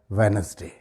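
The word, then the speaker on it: Wednesday: इसमें भी डी तकरीबन साइलेंट है बोलते वक्त, प्रोनाउंस करते वक्त। इसका सही प्रोनाउंसिएशन क्या होगा? वेडनेसडे, वेडनेसडे।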